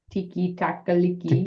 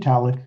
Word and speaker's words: Tiktaalik: Tiki taka liki. Tiktaalik.